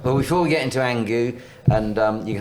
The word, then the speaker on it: ANGU: really Richard that's where um you and um angu have I got have I got the pronunciation you have indeed perfect well done Johnny